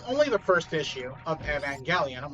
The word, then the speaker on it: Evangelion: I mean, I guess it would kind of make sense that it would be pronounced Evangelion, since in Japan the G makes the gut sounds, not the just sounds.